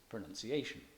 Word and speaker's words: pronunciation: For example, the word syllable is stressed on the first of its 3 syllables, syllable, and pronunciation on the 4th of its 5 syllables, pronunciation.